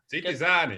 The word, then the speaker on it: Citi Zēni: Citi Zēni. Because people always say Citi Zēni, or It's like citizens. Yeah. But you said right. Yeah, with we our languages have a same pronunciation, so I think it's about that.